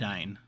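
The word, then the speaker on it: Dúnedain: Dunedain. Dunedain. Yes. Okay, I keep trying to put like extra syllables in there. Dunedain. No And- extra syllables, just extra diacritics.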